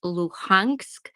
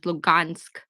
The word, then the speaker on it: Luhansk: There's a Russian way, which is Lugansk, but which is a Russian one, but there's Luhansk, which is the Ukrainian way to say it.